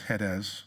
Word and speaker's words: Hades: being in torment in hades the real pronunciation is hedes but it's hades he lifted up his